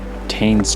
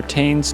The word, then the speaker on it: Tane: So this is lower tain's track. So it looks like it just loops actually I think it's pronounced tan.